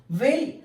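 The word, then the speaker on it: whale: इसमें हमारे पास जो साइलेंट वर्ड है दिस इज द एच।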